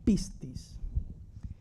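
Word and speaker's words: πίστις: cosas muy raras y se pronuncia según los comentarios como piscis en un 98% la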